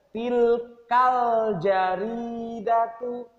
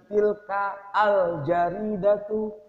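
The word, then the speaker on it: تلك الجريدة: Jadi bacanya tilkal jaridatu. Tilkal jaridatu. Tilkal jaridatu. Nah, jadi bacanya bukan tilka al jaridatu.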